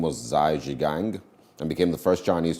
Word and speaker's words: Zhai Zhigang: And then on this day, Zhai Zhigang, as it's pronounced, eventually was the first Chinese to walk on space.